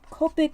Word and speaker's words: Copic: to blend I mean Copic heaven or Copic heaven sorry I think I've been saying it wrong Copic topic so I'm going to